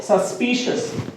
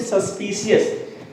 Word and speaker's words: suspicious: Now ending with CIOUS is shus. I repeat. Shus. Like suspicious. People pronounce it suspicious. ये suspicious नहीं होता भैया.